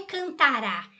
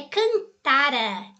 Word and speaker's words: cantara: Não é tônico, então não é cantará. Cantará é futuro, é cantara, tá? Cantara é átono. A sílaba tônica aí é o tá e não o rá.